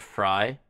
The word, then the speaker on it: Frey: It's actually pronounced like Fry. Oh, I always say it wrong. Glenn Frey.